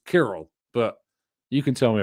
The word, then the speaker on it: Kirill: Everyone makes Cyril out of it. I always assumed it was Kirill, but you can tell me if I'm wrong.